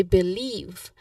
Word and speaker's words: believe: So believe second syllable is leave. So emphasizing it on that particular syllable and we get I believe.